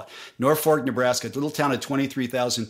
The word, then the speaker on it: Norfolk: their claim to fame it's spelled Norfolk but you pronounce it Norfork got it h so not mispronouncing it when I say Norfork that's how they what they call it Norfork Nebraska little town of